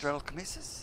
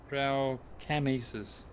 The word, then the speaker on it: Dralcamesis: How do you actually pronounce that? Dralcamesis? Draculasis? Dralcamesis? Draculasis, is that correct? Dralcamesis. Okay.